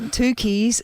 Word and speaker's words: Tucci: Is Stanley Tucci's sister-in-law.